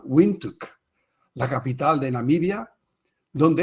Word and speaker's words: Windhoek: El primero de ellos en la ciudad de Windhoek, se pronuncia de una forma inusual, Windhoek, la capital de Namibia, donde esta práctica de la reutilización directa potable viene funcionando desde 1968.